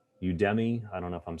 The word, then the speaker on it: Udemy: So yeah, Udemy it's pronounced.